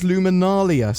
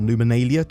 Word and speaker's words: Luminalia: Something else that's relatively cool for December is Luminalia, or Luminalia, depending on how you want to pronounce it.